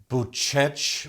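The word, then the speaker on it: Bucegi: quite famous uh spiritual mythological mountains called the buchech mountains am i saying it correctly the mountains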